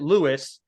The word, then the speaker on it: Luis: got Luis uh or Lewis he goes it's it looks like it's spelled Luis but it's uh he pronounces it Lewis uh and he's the